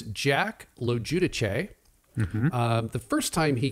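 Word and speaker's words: LoGiudice: researching the correct pronunciation, I am 99% sure that the correct pronunciation is Lojudice.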